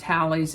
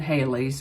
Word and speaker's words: Halley's: i've heard it pronounced hallie's and haley's but it's it's spelled halley's so that's how i'm going to say it halley's comet made its closest